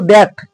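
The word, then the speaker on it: the: একটি ব্যঞ্জন বর্ণ দিয়ে কোন ওয়ার্ড যদি ভাওয়েল দিয়ে শুরু হয় তাহলে তার আগে উচ্চারণটা হবে দি আর যদি কনসোনেন্ট দিয়ে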